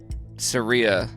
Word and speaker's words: Saria: Shout out Saria, and she's from Denver. I like that she said pronounced like Maria, but with an S.